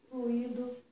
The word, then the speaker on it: fluido: A lei não, as regras da prosódia, eu vou falar gratuito, fortuito, fluido, tá? Tem gente que troca, que bota a sílaba tônica no I, mas isso é uma inadequação da prosódia, das regras da prosódia, tá?